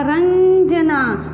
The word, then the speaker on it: रंजना: जैसे रंजना, तो यहाँ पे लिखा रंजना, तो र के ऊपर भी जो अनुस्वार आया तो उसका भी न जैसा उच्चारण होता है।